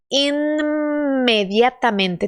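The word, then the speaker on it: inmediatamente: só se você quiser eu tenho que pronunciar esse n antes como é que eu faço imediatamente tem que pronunciar os dois sim imediatamente é um pouco diferente porque no português não temos isso tenta imediatamente Livre mais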